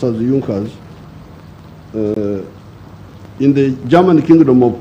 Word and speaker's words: Junkers: young cause it's written in junkers but it's pronounced as yunkas in the german kingdom of prussia one of